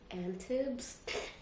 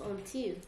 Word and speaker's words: Antibes: Antibs? I've only ever talked about this with Mariane in Arabic so I naturally just... it's Antibes, right?